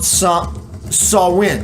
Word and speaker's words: Samhain: events in Irish mythology happen or begin on Samhain. Excuse me, that's how it's pronounced.